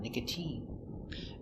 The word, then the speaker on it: nicotine: But sometimes, it's pronounced with a sound E, like nicotine. Uses the E sound, nicotine.